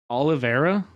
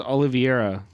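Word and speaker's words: Oliveira: how you say it Olivera that's how you say it I thought it was oliviera calls me a liar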